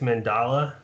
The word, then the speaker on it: Mandala: Did I get that pronunciation correct, Mandala? Yeah. Yeah, 37th Mandala. People pronounce it differently.